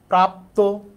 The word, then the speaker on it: প্রাপ্ত: এই যে এখানে যুক্ত বর্ণ আছে শেষে আছে ত এর সাথে যে অ আছে অ এর উচ্চারণটা এর মত হবে কারণ যুক্ত বর্ণ আছে তাহলে হবে কি প্রাপ্ত তাহলে শব্দের শেষে যুক্ত